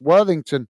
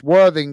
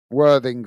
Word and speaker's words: Worthing: Well, I'm reading it how it's pronounced, Worthington. That's how it's pronounced, isn't it? Or is it? Oh, it's Worthing, isn't it? Yeah, you call Worthing, I think, is it? Worthing.